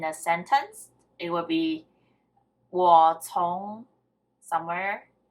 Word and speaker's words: 我: Is the pronunciation correct? Yeah. And me or I is 我.